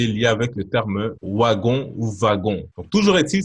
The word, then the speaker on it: wagon: Vous avez wagon. W, ça se prononce wagon.